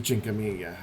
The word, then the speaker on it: Cinquemila: but i do love the chinkaminga uh and that is how you say it google it google italian